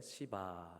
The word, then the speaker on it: 시바: 그 사람이 이름이 뭘까요 발음을 잘 하셔야 됩니다 그래서 약간 약하게 시바 하라고 하시면 됩니다 그런데 그 시바 라고